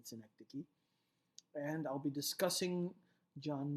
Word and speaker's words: synecdoche: devices used in poetry metonym and synecdoche is how they are pronounced metonymy and synecdoche and I'll be discussing